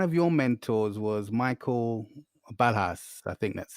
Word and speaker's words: Ballhaus: One of your mentors was Michael Balhas. I think that's how I pronounce his surname.